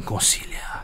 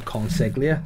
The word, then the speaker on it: Consiglio: Is that how you pronounce it? Nathan Consiglio. Yeah, I was calling him Consiglia. And he goes, that's not how the fucking say my name.